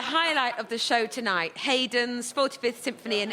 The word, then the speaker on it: Haydn: Look, you're right in one respect about Haydn, or Haydn, as he liked to pronounce it.